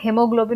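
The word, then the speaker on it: haemoglobin: वैसे यहाँ पे हेमोग्लोबिन में भी ए साइलेंट है।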